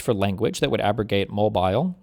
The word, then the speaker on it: Mobile: test based on white It's pronounced Mobile. Mobile, Alabama. This court first construed the amended version of section two in Thornberg v.